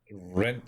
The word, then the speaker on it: Rhint: Rhint Salonius.